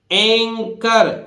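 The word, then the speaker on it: anchor: है साइलेंट है इसी तरह देखिए एंकर सीच सीधी सी बात है यहां सीच किसकी ध्वनि दे रहा है का की क्यों दे रहा है क्योंकि एच बोलना ही नहीं है और एंकर आप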